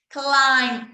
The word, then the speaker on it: climb: Climb up, climb down. Climb up, climb down. Sem pronunciar o B.